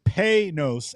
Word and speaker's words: Panoz: Lucas, the bid turn, in my notes, phonetically wrote it out that it's Panoz, and that was allegedly the correct way to enunciate or pronounce the name of the car. I always called it Panoz, but thank you, Lucas, for correcting me.